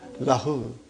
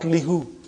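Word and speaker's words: لَهُ: It becomes lahu, not lihu. Lahu. Okay? It changes because it's easier to pronounce.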